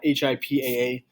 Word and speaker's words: HIPAA: their part as well they have hipaa uh h-i-p-a-a it's pronounced hipaa and that requires physicians